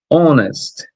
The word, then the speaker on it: honest: Our já tem aqui, ó, vai ser honest. O H não foi pronunciado, então anonest woman.